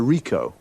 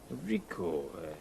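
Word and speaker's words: Ricoh: a camera what make and model it's a Rico Rico how do you spell that r i c o h okay got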